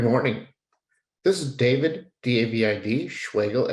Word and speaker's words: Schwegel: This is David, D-A-V-I-D, Schwegel, S-C-H-W-E-G-E-L, spelled like Schweizer rhymes with bagel.